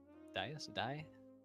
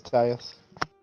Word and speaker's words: dais: Dais? D-A-I-S. However you pronounce I think it's Dias. Dais, okay.